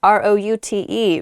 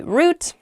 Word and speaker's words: route: pasture okay the next word is is root r o u t e root is how I say it you might also hear the word pronounced route root r u t means the